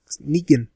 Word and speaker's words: Negan: Negan.